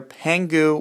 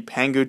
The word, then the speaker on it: Pangu: First off, I want you guys to know that there are only two legitimate jailbreaks out there, Pangu, which is spelled P-A-N-G-U, and Taig, T-A-I-G.